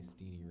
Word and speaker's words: Stene: as correct is actually I heard Chad say Stene Racing at Ralph's one time. That must be right then. Chad, is that right? Yes, it's right.